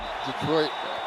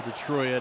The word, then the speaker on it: Detroit: They're like, why is he pronouncing Detroit? Well, that's cuz we're from Michigan and uh the Detroit area and that's uh that's actually how a common pronunciation for Detroit, especially with all the Windsorites and Canucks and the uh the English population as Slider almost got